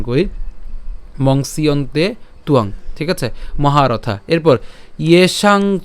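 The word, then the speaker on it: ত্বং: আকার অনুস্বার ঠিক আছে তুয়াং তুয়াং এভাবে উচ্চারণ করতে পারেন চ তুয়াং ইয়েসাং চতুং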